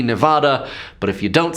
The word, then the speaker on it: Nevada: out here I said nobody says it the other way it has to be Nevada but if you don't